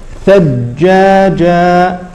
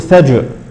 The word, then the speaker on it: ثجاجا: لا كذلك مثال اخر ثجاجا ثجاجا ثجاجا ثجاجا هذه الجيم الاولى المشدده لا تقلقل ف لا نقول ثج لا نقول ثج نقول